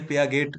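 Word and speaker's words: Piaget: কোনো যদি সাইকোলজিস্ট, তাহলে তিনি হচ্ছেন পিয়াজে, বা অনেকে পেয়া গেট, যেভাবে যেভাবে উচ্চারণ করতে পারেন না কেন, কিন্তু ওনাকে পেঁয়াজে বলা হয়।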